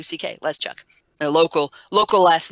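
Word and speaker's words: Leszczuk: be looking at that go and that's not pronounceable it's less chuk chuk l es c zc u ck let's chuck a local local last name several several around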